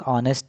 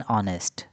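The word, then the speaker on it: honest: तो इसका correct answer होगा फ्रेंड्स एन ऑनेस्ट। क्योंकि यह जो नाउन है यह वोवेल साउंड से शुरू हो रहा है। एच साइलेंट होता है।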